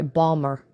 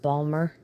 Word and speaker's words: Baltimore: I used to have an aunt that lived in Baltimore. I'm sorry, Balmer. I believe is how they pronounce it, Balmer.